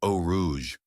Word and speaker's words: Eau Rouge: It's pronounced o rouge.